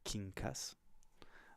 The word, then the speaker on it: Kinkas: My name is pronounced Kinkas. A lot of people have doubts about that with how it's spelled weird, but I figure I might as well mention that.